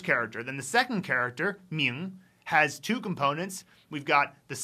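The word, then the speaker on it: 明: How about the pronunciation? Well, that's Marilyn Monroe representing M-I. Your office break room represents N-G and second tone.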